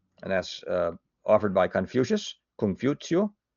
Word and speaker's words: Confucius: And that's offered by Confucius, Confucio. I'm certainly mispronouncing that, but Confucius is how we say it here.